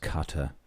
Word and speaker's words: Qatar: so M michah said it's actually pronounced cutter say that again Cutter